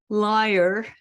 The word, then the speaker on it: lyre: Lyre, it's L-Y-R-E, it's spelled like the musical instrument, lyre. And this is the wily wanderer Odysseus speaking.